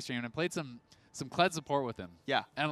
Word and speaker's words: Kled: By our boomer producer, Arthur, the mayor, that Rick Fox was calling the champion Zed. Just outright, just mispronouncing the name. And they're like, well, it's Zed on a horse then.